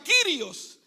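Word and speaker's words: κύριος: En el rom, en el latín, señor, se dice dominus y en el griego, Señor, se pronuncia Kirios.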